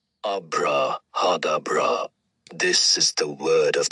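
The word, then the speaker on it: ABRAHADABRA: A B R A H A D A B R A pronounced abraadabra.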